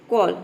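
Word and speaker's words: call: अगर आ जाता तो सी को हमें क्या प्रोनाउंस करना पड़ता, स प्रोनाउंस करना पड़ता। ठीक है, लेकिन यहाँ पे नहीं आ रहा है तो हम क प्रोनाउंस कर रहे हैं।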